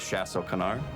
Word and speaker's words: Chasse au Canard: there's a fretch restaurant called shasso canar did I pronounce that right uh your French is excellent Luigi translates to duck